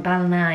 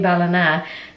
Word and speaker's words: Ballina: I didn't know this, but apparently Biden's American Irish and he has ancestors from Ballina in County Mayo.